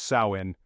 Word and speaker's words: Samhain: Samhain, pronounced Samhain, was more than just the start of winter for the Celts.